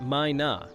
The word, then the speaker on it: myna: The Mina bird, pronounced Mina, is a familiar and noisy resident across Hawaii, especially on the Big Island.